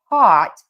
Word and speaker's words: taught: So, in these cases taught think of it as being spelled t o t with that open ah.